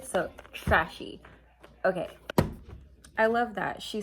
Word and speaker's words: Tres She: Oh, it says right here, pronounced trashy, worn bougie.